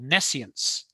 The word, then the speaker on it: nescience: He has this term that goes along with SURD called nescience, spelled like science with an N-E in front.